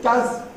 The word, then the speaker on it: does: We never say, what does it mean? Because does is too strong a vowel for so weak a word, so unimportant weak. We always say, what does it mean? And probably your best target there is no vowel at all, just D and Z.